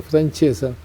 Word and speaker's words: Francessa: Bueno, ese apellido Francesa, que en buen italiano se pronuncia Francesa, es un caso curioso.